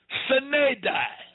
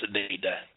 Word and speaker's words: sine die: And then they lied and said that that date created what they called Sine Die. Most of y'all probably never heard of Sine Die.